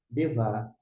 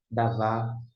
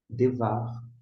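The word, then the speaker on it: דְּבַר: Por isso que se pronuncia na forma construta. Devar, Elohim, a palavra de Deus.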